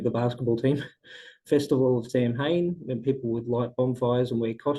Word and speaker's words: Samhain: You don't want to Samhain. stress on the first syllable, the sa syllable. The M Samhain. in the middle, well, is kind of silent. Do not worry about it. Just say Samhain.